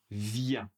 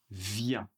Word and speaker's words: viens: Alors, la première personne, je viens. Je viens. Comme très souvent en français, la dernière lettre n'est pas prononcée.